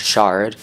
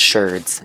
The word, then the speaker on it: sherds: person I was watching, I thought they were pronouncing it wrong, because I thought it was shard, like you would say of a normal pot. No, it is indeed sherds, and turns out I